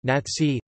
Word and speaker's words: Nazi: The term Nazi derives from the name given in German to a party member, Nationalsozialist, German pronunciation, Nazi, O na Lazatzi, a Elst, and was coined